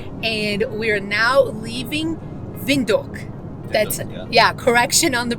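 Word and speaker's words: Windhoek: we are now leaving vindu that's yeah correction on the pronunciation uh W they pronounce it as V so VTO and we're on our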